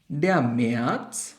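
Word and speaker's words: März: এরপর মার্চ যেটা হচ্ছে আমাদের ডে মেয়া আউটের জন্য সাউন্ডটা একটু ভিন্ন মেয়া তারপর আমাদের আসে এপ্রিল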